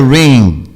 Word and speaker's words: ring: como estão dizendo hoje, que é sem pronunciar o G. Então fica ring, mas é um nasal aberto, ring, né? O G quase que vai sair, mas não chega a se configurar.